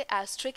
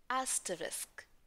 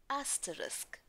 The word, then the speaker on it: asterisk: हम इसे एस्ट्रिक ही तो पढ़ते हैं, लेकिन इसकी करेक्ट प्रोनंसिएशन डिफरेंट है। ब्रिटिश इंग्लिश में एस्टरिस्क, एस्टरिस्क, स्ट्रेस ए पर। और अमेरिकन इंग्लिश में भी स्ट्रेस अ पर ही है, लेकिन प्रोनंसिएशन थोड़ी सी तेज है।